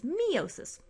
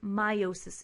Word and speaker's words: meiosis: You may also have heard people pronounce meiosis as meiosis. We've been guilty of that. But technically, if you look up the pronunciation, meiosis is the correct one, so we'll stick with that.